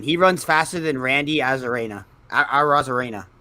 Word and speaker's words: Arozarena: He runs faster than Randy Arozarena. Arozarena. Sorry, I butchered Arozarena's name. Randy Arozarena. You said you almost said it right. It's a Rice-A-Roni. You were so close.